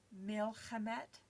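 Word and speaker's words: מִלְחֶמֶת: And then hamet instead of hama just changes the stress of the word, and of course takes that ah ending and puts et on the end.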